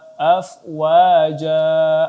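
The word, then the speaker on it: أفواجا: Afwaja, afwaja. Ya, jim di sini ada mat iwad maka dibaca 2 harakat saja.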